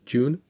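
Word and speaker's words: Ğ1: universal dividend is called the g1 or joon pronounced joon and you can check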